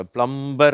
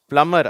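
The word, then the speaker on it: plumber: பிளம்மர் சரியா இது வந்து சில பேர் தப்பா வச்சிருக்காங்க பிளம்பர் அப்படிங்கிறாங்க அந்த பி வந்து இங்க சைலெண்ட் அதனால பிளம்மர் அப்படின்னு சொல்லணும் ஓகேவா அடுத்தது இங்க பார்ப்போம்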